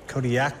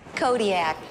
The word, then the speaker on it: Kodiaq: In the Aleutic language, the Qs are more come from like your throat than a normal K does. How would we pronounce it then? Kodiaq. Kodiaq.